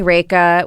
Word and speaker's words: Rekha: uh no my uh family calls me raika which is simply my name and then um even friends growing up it's two syllables there's not like much